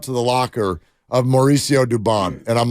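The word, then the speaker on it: Dubón: do you say it he goes it's duban I go how's Mom say oh goes Devon I'm like well what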